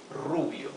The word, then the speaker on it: Rubio: hair Rubio for blonde remember to pronounce the r with a rough sound R okay Rubio because the r is at the beginning of the word Hoven actually needs to